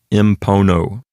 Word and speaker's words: impono: In plus pono, the letter N turns into an M before the letter P because the letter M is made with the lips, just like the letter P is. So it aids in pronunciation, and you get impono.